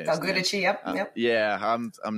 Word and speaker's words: Del Giudice: Del Giudice, yep.